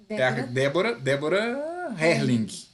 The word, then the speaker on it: Débora Herling: E o próximo ao lado dela é a Débora Herling. Isso. Certo?